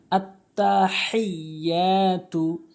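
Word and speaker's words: التحيات: তাশাহুদ আততাহিয়াতু এখানে যে ভুলটি আমরা করি ছোট হা উচ্চারণ করি এবং ইয়াটি টানি না এখানে হাটি হলকের মাঝখানে এবং ইয়াটি এক আলিফ টানতে হবে আততাহতু আততাহয়াতু লিল্লাহি এখানে লাম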